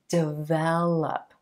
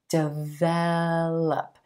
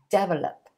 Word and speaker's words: develop: This word is develop, develop, with emphasis on the second syllable and the eh as in red sound. The tendency for a lot of non-native speakers is to pronounce this word develop, develop, with the emphasis on the first syllable.